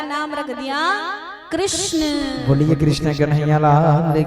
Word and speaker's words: कृष्ण: तो लाला का नाम रख दिया कृष्ण। बोलिए कृष्ण कन्हैया लाल की जय। यदि आप सही से कृष्ण नाम का उच्चारण करते हैं ना तो आपकी जीभ टेढ़ी होती है।